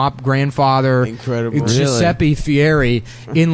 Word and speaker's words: Fieri: yeah here's the best part though dude he pronounced his name Fieri yeah and he was born guy Ferry he